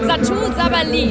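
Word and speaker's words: Satou Sabally: Bei mir ist nun ein großes Berliner Nachwuchstalent im Basketball, Satou Sabali. Habe ich richtig ausgesprochen?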